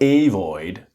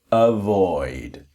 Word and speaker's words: avoid: So with the pronunciation, you go avoid. It's not avoid, but avoid. Avoid.